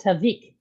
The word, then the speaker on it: Tavik: It's spelled Tapik, but it's pronounced Tavik.